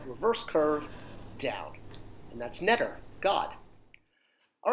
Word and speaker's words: ntr: And it's pronounced netter, N-T-R. Netter, which, again, Egyptian word for God.